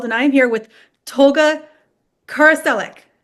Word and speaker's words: Karaçelik: My name is with the NRW, or Nerds Rule the World, and I'm here with Tolga Karaçelik. I said it right? It's close. Karaçelik.